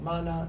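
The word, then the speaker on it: מן: And it's called, in English, they call it manna. In Hebrew, they call it man.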